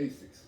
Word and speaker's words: ASICS: No, it's not a sis at the end. It's a What is it? See, you say it, nigga. Asics. Ain't no motherfucking aces. Man, you still ain't say it right, man. It's aces, nigga. Nigga, nah. You're saying like the card aces. You say it, miss. A6. Yeah. Ain't no motherfucking A6. It's That's too many syllables pronounced.